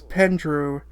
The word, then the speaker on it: Pendrew: Although our bosses on both sides are bad, there's this dude named Pendrew, who I thought might be a mispronunciation of Andrew, but no, it is Pendrew.